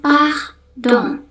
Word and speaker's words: pardon: Tapi kalau bahasa Persi kita ngnya p dong.